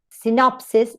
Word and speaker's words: synopsis: However, in words with a weak first syllable, the stress comes to the next one, to the middle syllable.